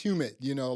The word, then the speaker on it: Humint: I think it's Humint. Like basically, it's Human, human human intelligence, intelligence.